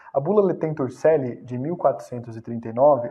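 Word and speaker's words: Laetentur Caeli: Outra referência que eu dou é a bula Letentur Celi. Tem gente que fala Celi, mas o correto é Celi, tá? Porque essa é a pronúncia tradicional em latim. A bula Letentur Celi, de 1439, é uma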